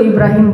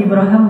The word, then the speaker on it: Ibrahim: Bahasa Arab itu Ibrahim boleh, Ibraham boleh. Itu dua cara baca Al-Qur'an kan ada qiraat kan ya. Jadi kayak bahasa Inggris Abraham itu bahasa Arab aslinya. Ibrahim Ibraham dua-duanya bacaan yang benar.